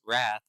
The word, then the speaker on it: rath: dire and Gimbal and pronounce Wrath to rhyme with math I already read